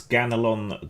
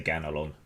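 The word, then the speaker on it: Ganelon: indeed uh here lies ganalon the paladin brave and pure however you want to pronounce that i would say ganolon g-a-n-e-l-o-n i have no idea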